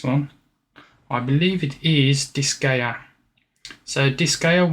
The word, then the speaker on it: Disgaea: We've got, oh, I'm gonna struggle trying to pronounce this one. I believe it is Disgaea.